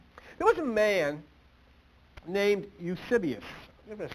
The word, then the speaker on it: Eusebius: There was a man named Eusebius. I'm going to spell that name, E-U-S-E-B-I-U-S, Eusebius.